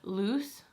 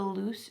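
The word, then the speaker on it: Luz: guys all told me it's loose I think is how you say it it's l-u-z and I was saying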